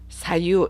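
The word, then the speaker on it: 左右: 올려서 오른쪽으로 올림의 의미, 사유, 좌우라고 나온 이 한자는 사유라고 발음합니다.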